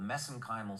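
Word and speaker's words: mesenchymal: called mesenchimal stem cells I know some of of our us viewers are going to they're going to object to me pronouncing that way but we did our research in Ireland and that's the way they pronounce MSC stem cells I'm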